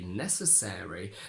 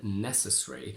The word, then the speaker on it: necessary: more common to say necessary than necessary where this air in air it almost gets like a second stress and it's not just